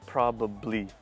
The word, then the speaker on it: probably: Now, in true authentic English, you should say probably. 1, 2, 3 syllables. But in native oral English, he says it perfect. He says 2 syllables.